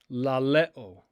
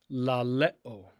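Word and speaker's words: λαλέω: The next word means to say or to speak, and it is laleo, laleo, laleo.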